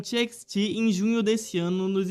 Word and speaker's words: TXT: grupo e até mesmo pronunciando incorretamente o seu nome, os chamando de Text ao invés de TXT.